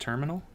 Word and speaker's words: TRMNL: David, terminal is pronounced terminal? Yeah. Their R and M are switched though. Are they? Terminal. No, it's TRMNL. Terminal.